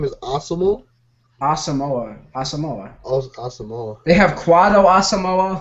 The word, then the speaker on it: Asamoah: Is his name Osmo? No. Huh? Did you say his name is Osmo? Asamoah.